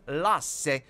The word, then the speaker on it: Lasse: one quick upgrade of Lasse. That is the Finnish pronunciation of the Lassie pet right there, but let's all call it Lasse and pretend that we're in Helsinki together.